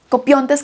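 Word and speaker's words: κοπιῶντες: Jesús utiliza un verbo muy particular cuando dice cansados, copiontes. Copiontes creo que es porque tiene el acento en la omega, pero copiontes, vengan a mí todos los que están copiontes.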